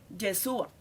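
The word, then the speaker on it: ישוע: ¿Cómo se dice Josué en hebreo? Yeshua, que es lo mismo que decir Jesús. Jesús es el verdadero y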